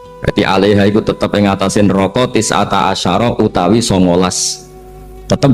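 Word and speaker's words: تسعة عشر: alaiha ituu tetapatase neroko tisata Asaro utawi solongol tetap bacanya bukan tisatu asarin tapi tisata jadi kita tahu secara hukum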